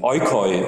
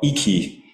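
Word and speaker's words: οἶκοι: And then it would be followed by these 18 to 22 longer stanzas, which are called, in with Erasmian pronunciation, oikoi or iki in Byzantine Greek, modern Greek.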